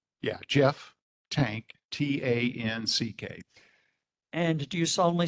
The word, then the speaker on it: Tanck: Tank, what would you, would you state and spell your name? Yeah, Jeff Tank, Tanck.